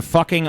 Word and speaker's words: Fucking: fucking. It rhymes with booking, apparently. So apparently it's pronounced fucking. Fucking.